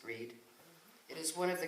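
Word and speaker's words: Brigid: The old Celtic name is also known as Candlemas in more recent time, or Breed's Day, spelt Bridget, but in the Celtic pronounced Breed.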